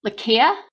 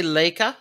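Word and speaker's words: Laika: board a dog named i want to say it's lakia but i know i'm pronouncing it wrong it's l-a-i-k-a i would say leica like uh leica i don't know or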